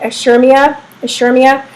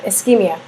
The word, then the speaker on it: ischemia: Too many white blood cells impair blood flow, causing, I can't say, ischemia.